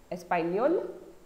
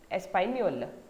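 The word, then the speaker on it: espagnole: You can see the difference between masculine and feminine nationality with respect to spelling, but the pronunciation is same. Espanol, Espanol.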